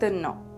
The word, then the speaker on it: ন: have here is Don no the pronounciation is similar to the no in the English word naughty the letter is called